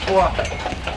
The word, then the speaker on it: Foix: Ici, sur votre droite, vous avez le quartier du Foix. Alors Foix, ça s'écrit F-O-I-X.